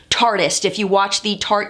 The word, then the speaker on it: Tarteist: they're keeping it but they do want us to pronounce it tartiest if you watch the